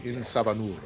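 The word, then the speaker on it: En Sabah Nur: You gotta learn how to roll your R's. Insabanur.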